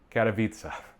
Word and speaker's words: Katowice: Oh no, I even looked up how to pronounce this one. I'm gonna look so American. Katowice.